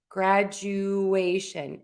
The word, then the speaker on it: graduation: And we are going to say you like the word you. You are all here for my class. All right. So again, the rule is we're going to stress the syllable right before the shun. So in this case, it's going to be the a. But right before that a make sure you say you situation valuation graduation evacuation evaluation.